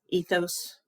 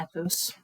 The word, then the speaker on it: ethos: are logos Pathos and I have heard these pronounced different ways so pathos pathos ethos sometimes I throw to ethos and the one that